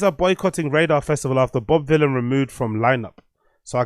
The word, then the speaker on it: Bob Vylan: clear that it's not Bob Violin it's Bob Villain Villain rhymes with Dylan right so it's Bob villain not Bob Violin like I've been pronouncing